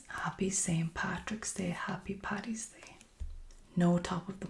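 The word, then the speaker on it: Paddy: Patty. Okay. It really really irritates me when Americans say Patty.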